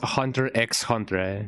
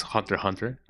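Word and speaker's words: Hunter × Hunter: Yeah, I am on the camp that says Hunter X Hunter because it's really funny to say it. I know that the correct the correct quote unquote pronunciation is Hunter Hunter, but you know that X feels lonely sometimes.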